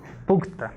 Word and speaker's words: Puchta: Winshade, por ejemplo, uno famoso que la gente suele acordarse, que se llama Entonces, es importante pronunciar la CH, ¿no? Es Puchta, ¿no?